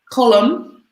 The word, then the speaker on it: column: and we have reporter column front-page article headline title this is just column so the N is silent what's number one then